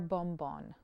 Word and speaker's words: Bombón: Yeah, it's sort of like the bonbon, like the French Yes. bonbon, same idea, but with an M first. So Okay. Bar Bombón.